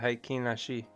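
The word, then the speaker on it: Heikin Ashi: Yeah, that's the Haikin Ashi.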